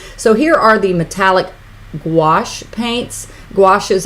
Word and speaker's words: gouache: here are the metallic gouache paint washes I always remember to say it like squash and they differ from